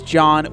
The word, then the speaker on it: John: My name is Jean, spelled like Jean. And my name is John with a silent H.